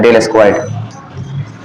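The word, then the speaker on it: del squared: इसको प्रोनाउंस किता है य प्रोनाउंस होता है डेल स्क्वाड इसका मॉडिफाइड फम चाहे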